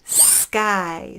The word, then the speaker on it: sky: with a guy guy sky sound it's got the k but it's actually going to sound more like guy skye next one spear